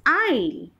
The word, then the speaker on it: isle: Now we'll take into consideration this second word, which is pronounced as aisle, but the spelling is ISLE.